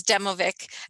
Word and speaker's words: Demovic: you by pointing out you've said my last name wrong oh yeah i know that's okay um it's demovic um and that's it